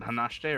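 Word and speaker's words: 話して: So, what in this case here, when you're saying it natively, you're gonna say hanashite. That's what I thought. Okay. But if you're pronouncing every syllable out as it's written, it is hanashite.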